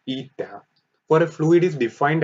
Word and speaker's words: eta: So the coefficient of viscosity, pronounced eta, for a fluid is defined as the ratio